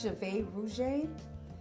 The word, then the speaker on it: Jade Rouge: Okay, the name of my company is Jade Rouge, and it's Creole French for red hair.